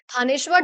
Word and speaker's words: थानेश्वर: थानेश्वर जो है यहां पे एस जो है बेसिकली साइलेंट रहता है।